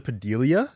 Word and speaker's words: Padilla: Some people say Padilla. I'm like, where did you get that extra I?